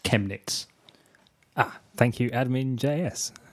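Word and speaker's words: Chemnitz: who's listening live has just told me it's pronounced chemets ah thank you admin JS and your extensive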